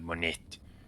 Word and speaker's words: Monette: And I was like, well, most likely, because you keep saying money instead of monette.